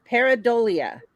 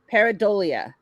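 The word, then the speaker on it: pareidolia: here listen this is how you say it peridolia it's the tendency to perceive a specific often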